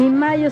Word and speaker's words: Mallo: Saludan Amparo e Imelda, las jilguerillas, para decirles: aquí donde canta el gallo está Laboratorios Mayo, y Mayo se escribe como gallo, LLO, Laboratorios Mayo.